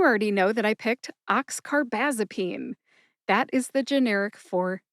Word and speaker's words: oxcarbazepine: Oxcarbazipene has five syllables. The first two syllables sound like box car, which is a type of car that a train pulls. Just drop the B.